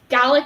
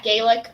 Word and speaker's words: Gaelic: whatever uh yes scott's scott's garlic i think is how they say it but yeah gaelic um yes my poo